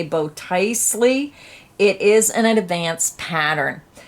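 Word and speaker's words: Botticelli: scarf project i am not sure how to pronounce it it's b o t t i c e l l i i'm gonna say bow tiesley it is an advanced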